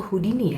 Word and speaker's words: Houdini: Nah itu Harry Houdini atau Houdini ya dibacanya ya.